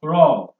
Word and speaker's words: roar: Another word that has similar pronunciation is ROA, which is to be pronounced as raw.